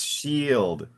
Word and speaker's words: shield: So IE is pronounced I, and here it's shield. IE is pronounced like an E a little bit.